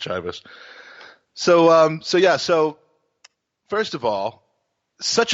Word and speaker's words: Chivas: 100%, it's pronounced Chivas.